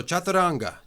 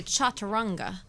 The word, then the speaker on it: chaturanga: My teacher, Jimmy Barkin, he's very American, so he would say chaturanga. Chaturanga. Exactly, chaturanga. I think that's funny. It's almost like Spanish, the way you have to pronounce the things.